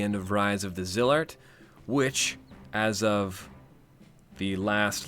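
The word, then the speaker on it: Zilart: I've heard some people pronouncing it Zylart. Now, some of you know me. I understand that the point of language is to get across meaning more than it is about the words themselves. I also like to nudge pronunciation into the right direction. Now, the kana in Japanese for Zillart is jirato. If it was Zylart, we'd have Zairato. That's not what we have.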